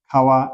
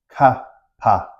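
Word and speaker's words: ཀ་བ: So we don't say ka pa. If you say kapa, Tibetans won't be understand you. If you say ka pa, they won't understand you either. So we pronounce this as kawa, kawa.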